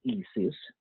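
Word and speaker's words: IS☉IS: So the pronunciation is ESIS, to be clear, and we put that sun sign in the middle.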